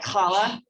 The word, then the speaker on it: challah: say it very easily but challah it's got that in the back of the throat like challah but if you're not jewish you could pronounce it challa if you want to this is what